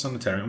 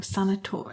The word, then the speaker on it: sanatorium: So I wonder if they use that Waverly Hills Sanatorium. I'm just gonna have a quick check, but. Am I saying it wrong? Sanatorium. It's because it's an O.